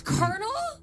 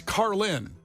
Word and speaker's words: Carlin: me up with that I was about to mispronounce it too car it's carel it's Carlin George Carlin I've been seen carinal for a